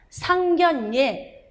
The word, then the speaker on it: 상견례: 상견례, 의견난 다 유마의 예외라서 비유마처럼 니은으로 발음이 납니다.